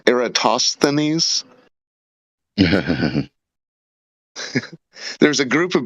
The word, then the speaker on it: Eratosthenes: on you know um I know a lot of very smart people that pronounce it wrong they say aristosanese yeah that's something like that